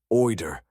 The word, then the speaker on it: OID: OID, usually pronounced OER, had been a controversial